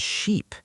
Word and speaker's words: sheep: Many students confuse ship and sheep. Ship, sheep. Yes, ship has a short I sound and sheep has a long E sound. You have to hold the E longer.